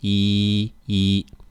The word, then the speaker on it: 一: or yidding yeah it's because when e comes before a fourth tone character e changes to a second tone eating how about one two three four five six seven how do you say that there's a ER sensor without your ER sensuality yeah that's right it's right when you're counting e stays the first tone e e and in the word